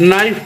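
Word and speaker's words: knife: है अफन पढ़ते हैं के एन आई एफ नाइफ पढ़ते हैं के नहीं पढ़ा जाता ए यू टी यू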